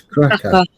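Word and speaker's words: Kraków: No, Krakco. So, we was in KCO. Was we in KCO? Did you just make that up? KCO. I thought No, it's Krakco. Okay.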